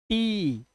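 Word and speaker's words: tea: lean meat NEET peak टी इसलिए इसे टिया नहीं पढ़ते टिया टी ई ए का उच्चारण ई सी वीक वीक ठीक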